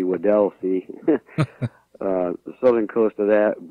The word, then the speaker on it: Weddell Sea: and the Weddell Sea had mispronounced that before I called it wealthy but I've been corrected it should be Weddell Sea the southern coast of